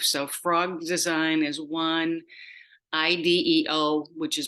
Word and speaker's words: IDEO: of our life so frog design is one Ideo which is pronounced Ido is another one they have done a lot